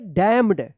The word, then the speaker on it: damn: SOLEMNLY, solemnly, solemnly, solemnly पढ़ेंगे, क्या पढ़ेंगे, यहाँ पे भी क्या है, एन साइलेंट रहेगा। DAMNED, क्या पढ़ेंगे, डैम्ड, डैम्ड मत पढ़िएगा, डैम्ड पढ़ेंगे, ठीक है, यहाँ पे भी क्या है, एन साइलेंट रहेगा।